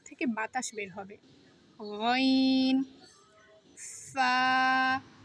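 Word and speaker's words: فا: ফা। উপরের দাঁত নিচের ঠোঁটের সাথে লাগিয়ে উচ্চারণ করতে হবে। ফা।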